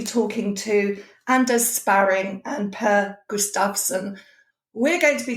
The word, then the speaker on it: Per: Per, but it's pronounced Per. Per. Not Okay. Per, like the cat.